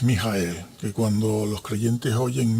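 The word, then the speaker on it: מיכאל: Si vamos al hebreo y luego pronunciamos en nuestro idioma es Mijael, que cuando los creyentes oyen Mijael, uy, cuánto hebreo sabe.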